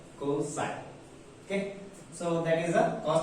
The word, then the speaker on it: cos: Cosine, abbreviated as a cos and pronounced as a cosine.